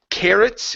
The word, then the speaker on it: carrots: good let's go to carrots even though we have a double r okay it's just like one R we don't pronounce a a rolled r or anything like that okay so we're going